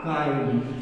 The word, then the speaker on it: kind: तो हमारा वर्ड आया था वाइंड और दूसरे में आया था काइंड। तो दोस्तों वाइंड को यहां पर विंड नहीं पढ़ेंगे, क्योंकि के आई एन डी का उच्चारण किंड नहीं काइंड हम लोग पढ़ते हैं।